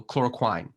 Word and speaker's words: chloroquine: general manager can do so chloroquine pronounced like swine but we don't know